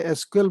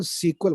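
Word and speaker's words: SQL: आपको कंफ्यूज नहीं होना, वो एसक्यूएल का ही वो करेक्ट प्रोनाउंसिएशन है. हम लोग इंडिया में से एसक्यूएल बोलते हैं, बट इसका जो ऑफिशियल डॉक्यूमेंटेशन है वो कहते हैं कि आप इसे सीक्वल बोलिए, राइट.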